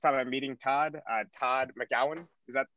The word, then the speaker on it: Todd McGowan: is the first time i'm meeting todd uh todd mcgowan is that pronounced that's right yeah okay i see i